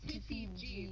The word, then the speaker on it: TIFIG: It was pronounced TFIG, but it was spelled TIFIG.